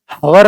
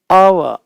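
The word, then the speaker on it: hour: हवर नहीं, अव, एन अव, हेयर नहीं, एयर, एयरस, एयर, जो हवा का उच्चारण होता है एयर का वैसा होता है इसका उच्चारण है एयर।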